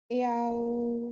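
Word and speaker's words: yao: इसको कैसे पढ़ेंगे या याओ अच्छा अगेन याऊ नहीं है इ के इ हल्का सा प्रोनाउंस करके फौरन औ पे आना है। याओ याओ हां तो इसकी प्रैक्टिस के लिए मैं आपको वीडियो शेयर कर दूंगा।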